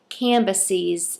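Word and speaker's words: Cambyses: was another king i hope i'm going to pronounce this right canvases c-a-m-b-y-s-e-s and then it was king darius so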